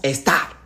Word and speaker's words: Esther: D'ailleurs en Perse Esther se prononce Estar et c'est pourquoi les anglais vont tirer star pour donner étoile.